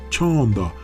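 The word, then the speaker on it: चंदा: Se pronuncia chanda, y por eso la gente pone una candle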